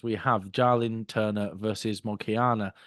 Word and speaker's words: Moicano: And then, Mark, closing the early prelims, we have Jalin Turner versus Moicano. Is it Moicano? How do you say his name? Makayo, I think. Macayo, that's it.